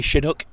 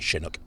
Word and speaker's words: Chinook: once and for all is it pronounced Chinook or Chinook ah Chris now you're asking the Shrewsbury or Shrewsbury question aren't you I say Chinook but it's actually named after a win that comes down from the Rockies in America